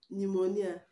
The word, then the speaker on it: pneumonia: know is not pronounced pneumonia pneumonia the p in pneumonia is not pronounced card the p in